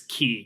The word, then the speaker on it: Ke: the first part of his three-part name it's key ke it's pronounced key I know that much so key foreign what